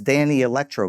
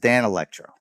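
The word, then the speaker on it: Danelectro: And uh I said, "What's with this Danny Electro guitar?" He's like, "It's pronounced Dan Electro."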